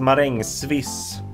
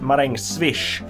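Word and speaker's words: marängsviss: And this word is pronounced meringue swiss. But a lot of people pronounce it meringue swish as if it was a... So I got it right. I got it right. Very fast dessert, swishing by. Meringue swish. But it's pronounced meringue swiss.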